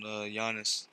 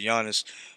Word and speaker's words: Giannis: I've been saying his name wrong, supposedly Giannis.